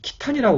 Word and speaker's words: 契丹: 한자는 이렇게 써져 있지만 실제의 이 자기들이 이 거란을 부를 때 거란의 국호에 해당되는 그런 발음은 이 키탄이라고 그럽니다. KHI의 이 키를 써서 키탄으로 발음을 하고요.